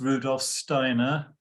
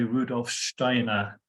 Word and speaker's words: Rudolf Steiner: right um a couple of things I'm going to refer to to him as Rudolph Steiner which is the kind of anglicized pronunciation if you if you move in more Germanic Circles of course they'll say Rudolph Steiner which is the correct pronunciation but I'm going to